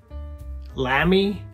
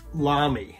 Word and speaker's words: Lamy: out of the way lamy lamy it's lami i believe i'm probably going to say lambie and lammy and maybe some other versions too so